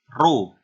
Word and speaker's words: rho: Itu namanya rho ya. Tulisannya RHO, bacanya rho.